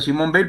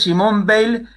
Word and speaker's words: Simone Weil: Weil con B corta, pero se pronuncia igual, por lo tanto estamos aptos para la confusión. En este caso es Simone Weil, que es las dos judías, por supuesto, francesas las dos, por supuesto.